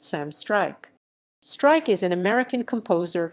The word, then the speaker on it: Struyk: the artist name of sam strike pronounced sam strike strike is an american